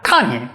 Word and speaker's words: kani: So take the Japanese word for crab, kani. Now those are 2 syllables, ka, ni, and Japanese represents them with 1 character each.